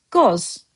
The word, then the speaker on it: qoz: Master's of Azerbaijani word of the day has for you the word goz. Goz, just one syllable.